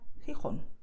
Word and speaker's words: Gijón: So you just expel the air and that's it, okay? So you feel like the hot air coming out of your mouth. So most Spanish speakers, especially in Latin America, they would pronounce these words as you can hear now. Jalisco, Ojeda, Jipijapa, Tajo, Tajuña, Gerona, Gijón. Okay, and that's totally correct.